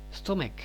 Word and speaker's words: stomach: Jika kata benda tunggal berakhiran "ch" tetapi tidak berbunyi seperti desisan, melainkan diucapkan dengan bunyi "k", maka bentuk jamaknya tidak ditambahkan "es", melainkan hanya " s". Misalnya, stomach menjadi stomachs, stomach.